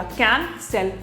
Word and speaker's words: cancel: और यहाँ पे सी के बाद में ई आया ना, तो इसलिए हमने उसको स बोला।